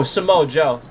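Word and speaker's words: Samoa Joe: Um I just again he's such a I don't want to say his name wrong. Oh, Samo Joe.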